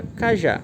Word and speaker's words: cajá: destaca a sua pronúncia então é uma palavra oxítona quanto a tonicidade por quê Porque a tonicidade está na última sílaba agora eu pego uma